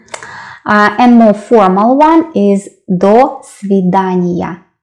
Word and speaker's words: до свидания: And more formal one is до свидания. До свидания. It sounds, of course, it sounds as one word.